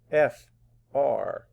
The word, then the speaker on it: freight: F-R-E-I-G-H-T. And I hear that A sound, freight, and how do we spell it? E-I-G-H.